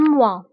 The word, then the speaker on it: mois: بالنسبة لأن mois نكتبها ب S في آخر الكلمة ولكن لا ننطقها. نقول un mois.